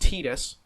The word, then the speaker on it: Tidus: pronounced tita and therefore the assumption is the first syllable to be pronounced the same in his english name the pronunciation of his